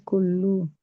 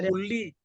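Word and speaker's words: كل: Ini kullu, tidak kular ya. Nah, gitu caranya membacanya kita. Kenapa dibaca kullu? Tidak kulli, tidak kulla.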